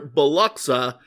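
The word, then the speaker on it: Biloxi: or as I learned while we were there, Beluxa, Mississippi. Fascinating the way places decide to pronounce the names of where they are, and it doesn't match the spelling at all. At least not the spelling and pronunciation the way I was taught it in uh in elementary school.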